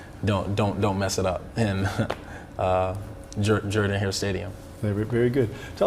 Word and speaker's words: Jordan-Hare: Yes, How did you know that it was Jordan-Hare and not pronounced the way it is spelled?